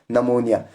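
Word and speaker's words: pneumonia: beginning में ही होंगे तो वहां पर बी साइलेंट होगा पर एग्जांपल यहां पर लिखा है नमोनिया आप देखो न यहां पर क्या है सॉरी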